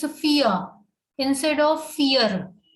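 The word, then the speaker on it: vier: called dry dry then four is called fear fear we know that v has a four sound in german so fee ah r is not having raw sound here mostly what happens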